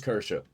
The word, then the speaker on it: Kirsche: I don't know nothing about this Kersia, is that how you pronounce it? Situation. So, I'm going to see what Yellow Flash 2 has to say about it. So, they're after Kersha again. Pop. Aha, it is Kersha.